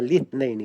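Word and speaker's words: الاثنين: Kata beliau fi yaumil itsnaini. Juga bacanya litsnaini ya.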